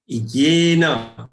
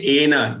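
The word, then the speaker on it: येन: Then yena, don't say ena, yena, third charan.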